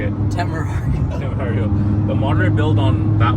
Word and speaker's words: Temerario: to look at what the, how do you pronounce the new one? Temerario. That's like 650 plus. Yeah, they're like so a moderate build on a, I can't say it. Temerario.